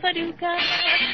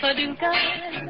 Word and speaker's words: Paducah: you wanna, you can rhyme it with bazooka. But you can't poo poo paducah. That's another name for paradise. Paducah, paducah.